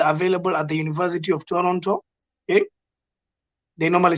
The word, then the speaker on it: Toronto: okay ah yes sorry you said the t is silent yeah not the first the second one moving on swift i